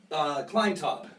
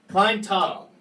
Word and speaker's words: Klinetob: Klinetob? Klinetob. Klinetob.